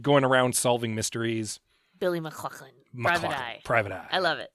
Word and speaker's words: MacLachlan: MacLachlan. I like all the "huh" in it. We cut to Billy MacLachlan.